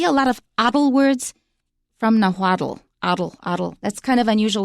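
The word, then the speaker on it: Nahuatl: It's called nawad and it's spelled capital n a h u a t- l. So you'll see a lot of words from naddle.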